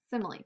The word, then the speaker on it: simile: any other words H simile kind of looks like Smiles but it's actually pronounced simile so this is what a simly is a simly Compares